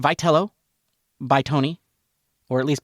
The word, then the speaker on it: Vitello: I mean, it's spelled Vetello. It is. And you know, it might be Vetel. You know that's how it's spelled for Italians, Vo. But no, it's pronounced Velo by Tony or at least by all the